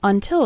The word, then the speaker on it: until: wait when speaking fast the first syllable of until is barely pronounced listen to it again